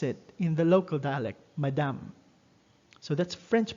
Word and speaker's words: madame: most students pronounce it in the local dialect madame so that's french pronunciation pronunciation actually so madame is for ladies